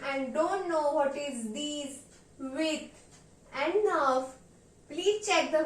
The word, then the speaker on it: dix-huit: Likewise 18 will be pronounced in French as deez-weet.